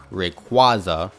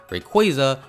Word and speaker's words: Rayquaza: this Pokemon's name wrong I say the dreaded Rayquaza which I know is so wrong but I just can't help it at this point it's been too late the name has been scarred into my brain and now it's Rayquaza forever for me even though I know the proper pronunciation is Rayquaza with the best evidence of this being every single piece of official media from Pokemon however diving into the